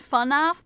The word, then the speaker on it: FNAF: Is it pronounced FNAF? It's pronounced funaf, but I say fnaf.